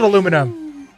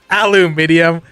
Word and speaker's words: aluminium: It's even spelled aluminum. A round, thin piece of aluminum, huh? Aluminium. Listen. The Brits get mad at us. We're pronouncing it wrong. We're just pronouncing it how it's spelled.